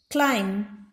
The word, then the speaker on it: climb: letter b is silent climb bus sound of the letter b is silent lim once again ba